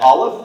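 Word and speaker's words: Aleph: the General partner at Olive that's spelled alph it is an early stage Venture Capital fund with about $850 million under management allive focuses on partnering with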